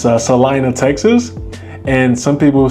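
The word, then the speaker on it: Celina: You have a city that it's Salina, Texas. And some people say Selena. It's not Selena. It's pronounced Salina, Texas.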